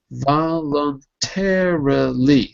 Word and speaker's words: voluntarily: But say it careful. Just careful the syllables. Voluntarily. So 5 syllables. Voluntarily. Voluntary. Almost. The problem is with the R. The R is difficult.